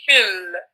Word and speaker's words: في: So you no need to pronounce the alif. And this is, I'm speaking in general, Wajid, not specifically to you. And also, so in normal circumstances, you will say fil.